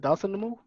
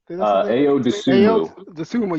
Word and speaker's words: Dosunmu: How do you say it? Dawson Namo? Ayo Dosunmu.